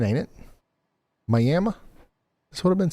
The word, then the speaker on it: Miami: Miami, Oklahoma is pronounced Miami. That's what I've been saying, ain't it? Miami.